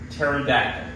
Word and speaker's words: pterodactyl: the teract the who pterodactyl is that t e r r teract yeah why can't you hear it using the bathroom why cuz the PE is silent the glasses you still